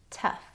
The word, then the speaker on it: tough: The next two words I'm going to group with enough because they rhyme with enough. Tough. Tough.